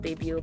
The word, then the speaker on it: debut: It's like, it's spelled debut, but we pronounce it debu, where basically when you